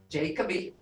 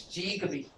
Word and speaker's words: Jigabi: And it's not pronounced Jacoby, it's Jigaby.